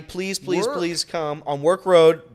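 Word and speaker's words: Werk Road: please please come on work road but not spelled like regular work it's We R K Road like twerk without the T that's right uh so Champions Grill work Road 7 p.m.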